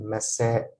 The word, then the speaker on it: مساء: a pause, like that you have to pronounce a as if you're starting a new word, starting with a, with alif, with a. So here I will pronounce it مساء.